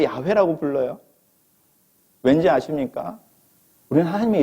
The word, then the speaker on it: 야훼: 발음해봐. 제호바? 진짜로? 넌 증인이라고 하면서 네가 믿는, 네가 증인이라고 하는 그 신의 이름 하나 제대로 발음 못하면서 무슨 증인이야. 우리 어린 시절에 하나님을 여호와라고 불렀습니다. 오늘날 목사님들의 설교 속에서 여호와라고 하나님의 이름을 부르시는 분들이 몇 분이나 있을 것 같습니까? 요즘 다 어떻게 부르죠? 야훼.